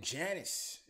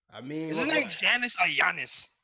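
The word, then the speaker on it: Giannis: channels he met with Janice Yanis that's probably honest they probably stay probably save like silent like Frank yeah yeah doing differently so not to sound like you know the G is silent man Yana saying you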